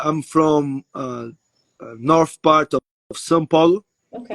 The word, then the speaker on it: São Paulo: I would want to say, okay, I say Sao Paulo, but what is the right pronunciation? São Paulo, São Paulo.